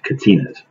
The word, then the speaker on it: Kachina: new Brides about catina's this how they're pronounced Katinas and a Catina is